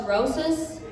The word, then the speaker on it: Rosas: Sometimes old white people pronounce it wrong, but I just let them know it's Rosas, as in osteoporosis.